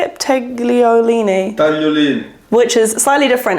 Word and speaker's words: tagliolini: Tagliolini.